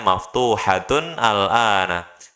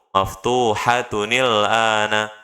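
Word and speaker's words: مفتوحةٌ الآن: Jadi kalau dipisah bacanya maftuhatun al-ana. Tapi kalau disambung maftuhatunil ana.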